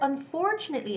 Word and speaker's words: unfortunately: fahrenheit fahrenheit okay and the word unfortunately is difficult okay well you have to put the stress on that syllable where there's for it's on for it's not two it's more like two like the choo choo train so it's unfortunately unfortunately okay so don't say don't make the mistake of saying unfortunately that's wrong it's gotta be unfortunately unfortunately unfortunately okay hello